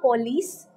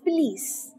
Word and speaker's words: police: is loose next one it's not police the quest pronunciation for this word is police police the next word is